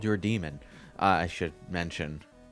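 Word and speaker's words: daemon: __ ] is a damon the greek spelling of it yeah but it's pronounced demon so yeah there you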